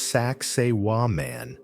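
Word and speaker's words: Sacsayhuamán: The walls of Sakai Huaman. Pronounced Sak Seiwa man.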